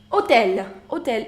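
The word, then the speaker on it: hôtel: so we say um hotel in French the letter H is always silent that means we write it but it's always mute unotella magazine which is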